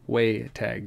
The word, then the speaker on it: Waytag: Waytag, just as it sounds.